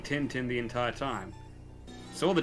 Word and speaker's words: Tintin: I've been saying Tintin the entire time. Saw the Japanese poster for it. It's pronounced Tantan.